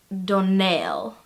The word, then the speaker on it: Donnell: And she just sort of looks at me and goes, "The stress is on the last syllable." There's a confused silence. As in, Donnell.